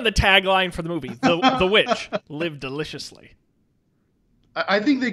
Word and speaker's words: The VVitch: new england folk tale or as i like to say the witch because they spell it with the two v's instead of the w which apparently is an old-timey way of spelling it um yeah it's